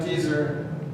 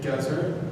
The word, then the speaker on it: Gezer: Gezer, not Gezer.